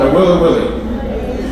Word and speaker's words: Nawiliwili: It's called Nawiliwili.